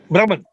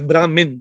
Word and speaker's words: Brahman: or brahman the brahman brahman yeah that would be the true identity yeah brahman let's not pronounce it as brahmin then they start thinking